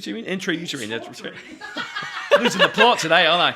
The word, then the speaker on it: Intrauterine: How do you pronounce it? Intrauterine. Intrauterine.